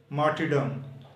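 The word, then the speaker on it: martyrdom: मार्टिडम शहादत. यहाँ पर आर साइलेंट है. ये लिखा तो जाएगा लेकिन पढ़ा नहीं जाएगा.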